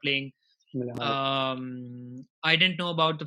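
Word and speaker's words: Milivojević: How do you pronounce it? Mile Jojovic, whatever. Milivojevic. Uh, yeah, he's also out. He got suspended, so he's not playing. Milivojevic.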